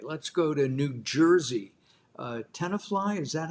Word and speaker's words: Tenafly: Tenafly, is that how you pronounce that, David? Yep, that's right. Tenafly, New Jersey.